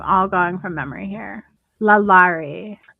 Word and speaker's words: Lalaurie: Lalaurie. Madame Lalaurie, I think is how you say her name.